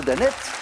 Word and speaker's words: Anet: le château d'Anette excellent le château d'Anette avec un qui se prononce non loin de Dre